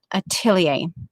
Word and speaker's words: atelier: So it's different from the way that Mary says it. But when you go to a dictionary, pronunciation dictionary, you just Google and say that they sometimes have that, and you click that pronunciation button, and that's what you get, Atelier.